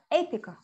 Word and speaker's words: apical: where is ipico a so apical okay so we stress at the beginning okay so and then